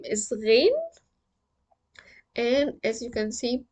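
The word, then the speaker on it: غين: It's like the gargle sound. There is a vibration, but in the throat, that gives us the Ghayn. If you are familiar with French language, they pronounce their R and R, R, R, R, R. This is the sound.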